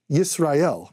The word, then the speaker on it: Yisrael: Which sounds like Yisrael, which is how you say Israel.